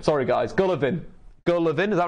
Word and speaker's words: Golovin: that's a completely mispronouncing that how do I pronounce it correctly gonna bed Golovin sorry guys Gallivan girl Levin is that right Golovin gah Levin